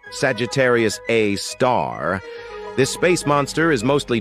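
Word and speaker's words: Sagittarius A*: an exception we've got Sagittarius A which is pronounced Sagittarius A star this space monster is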